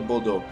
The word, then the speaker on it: Bordeaux: Yeah, let's go trade in the Bordeaux. It's Bordeaux, by the way, guys. It's not Bordeaux. It's Bordeaux. Little French pronunciation there going to work.